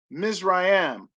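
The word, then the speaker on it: מִצְרַיִם: h4714 the first word next to it is pronounced misrayam the next word to it is dual spell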